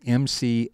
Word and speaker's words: McLaughlin: Best way to locate him is just to Google his name, Ron McLaughlin, and it's spelled a little differently than it sounds, so listen carefully, McLaughlin.